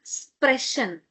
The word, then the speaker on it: sprechen: Speaking is a verb like to speak, sprechen. Sprechen. So, again, here before ch we have E. Now, the pronunciation would be sprechen.